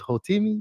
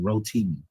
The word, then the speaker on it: Rotimi: And I think you was you was Hotimi. Yeah. I was I was Yes, I was. Yes, sir. And I think I pronounced his name wrong. Rotimi.